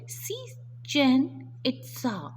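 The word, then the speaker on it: Chichen Itza: जो ancient city है सिचन इट्सा, इसको हम प्रोनाउंस करेंगे सिचन इट्सा, ठीक है।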